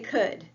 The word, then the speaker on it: could: Let me hear you say could. It rhymes with would.